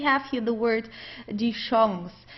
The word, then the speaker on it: Chance: In this case, it's a French word, so we pronounce it the French way, die Chance. Okay, we don't say Chance or Kanze or anything like that. We say Chance.